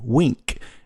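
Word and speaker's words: Winc: Club W is now called Wink and it's spelled W I N C.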